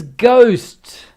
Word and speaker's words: ghost: careful of the spelling it is ghost the h is silent okay english for you ghost g-h-o-s-t i thought that is